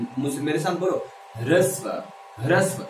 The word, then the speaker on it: ह्रस्व: एक होता है ह्रस्व। क्या होता है? बोल के बताओ मेरे सामने। हाँ मुझसे मेरे साथ बोलो। ह्रस्व, इसे हरस्व लोग बोल देते हैं, गलत है। ह्रस्व, ठीक है।